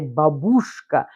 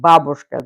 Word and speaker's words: babushka: America, for some reason, the stress, they decided to say babushka, but in Russian language, normal language, so everyone is saying babushka. The stress falls onto the first syllable, and that's how we are.